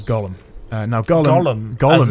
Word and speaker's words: Golem: life in in Jewish mythology but it's yeah golum is how they pronounce it in game okay uh and yeah